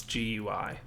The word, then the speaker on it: GUI: you should know that it's not pronounced gooey it's it's an acronym so it's GUI look I've gotten that